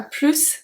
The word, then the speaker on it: plus: So in this case, we do pronounce the S.